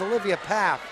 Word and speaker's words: Pfaff: Yes, Olivia Pfaff is Olivia Paff. Apparently the F is silent.